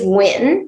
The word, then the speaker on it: Nguyen: never knowing the difference, not being able to pronounce my last name correctly, Nguyen, Nguyen, Nguyen, it's Nguyen. Actually, it's Nguyen, but you probably can't pronounce it correctly anyway, but I will tell you how it's pronounced.